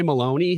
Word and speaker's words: Maloney: familiar with representative carolyn maloney i wasn't i know her name rhymes with bologna which i like can